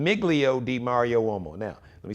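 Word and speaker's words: Migilio di Mario Uomo: This is an Italian name, Miglio di Mario Uomo. Now, let me spell it. It's M-I-G-I-L-I-O. D-I-M-A-R-I-O. U-O-M-O. That's Miglio di Mario Uomo. M-I-G-I-L-I-O. D-I-M-A-R-I-O-U-O-M-O. Miglio di Mario Uomo.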